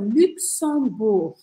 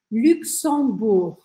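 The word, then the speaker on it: Luxembourg: francês e o português o país é o luxemburg luxemburg lembra que o Geno final a gente não vai falar e o x a gente vai fazer um som assim ó então fica luxemburg Luxemburgo que é um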